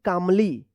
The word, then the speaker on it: calmly: CALMLY, तो क्या पढ़ेंगे, कामली, कामली पढ़ेंगे, यहाँ पे भी क्या है, एल साइलेंट रहेगा।